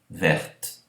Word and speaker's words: verte: Mas, quando ponho a, o E na grafia que marca o feminino, então a consoante que precede passa a ser pronunciada. Então aqui nós temos ver, verte, amusant, amusante.